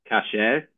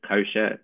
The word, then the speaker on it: kasher: So I just want to start with a quick exercise, and I'd like people to just talk about what the term kasher, otherwise pronounced kosher, means.